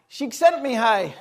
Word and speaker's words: Csikszentmihalyi: Csikszentmihalyi.